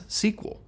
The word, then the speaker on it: SQL: However, as you can tell, a lot of people kept right on pronouncing it as SQL.